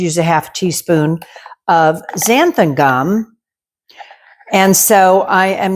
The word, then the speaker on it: xanthan: ZG on it for xanthan gum. Xanthan is spelled with an X, like Xander.